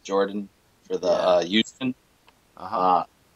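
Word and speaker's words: Yordan: closer that Jordan Alvarez spelled with a why they pronounce it Jordan for the youth and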